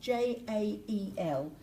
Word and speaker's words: Jael: Do you think that's Yale? Jail? Yale? So I did a J as... No, there's no H in it. J-A-E-L. Yale or Yale? In Spanish is pronounced with a H. Hoyle?